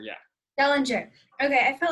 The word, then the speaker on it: Dellinger: Dellinger, yeah. Dellinger.